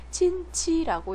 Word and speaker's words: 亲戚: 두 번째, 两人是亲戚 친치라고 읽어요. 일성으로 뜻은요 친척이란 뜻이에요.